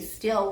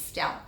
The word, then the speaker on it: Stell: See, I even mispronounce her last name because I say still when it's Stell.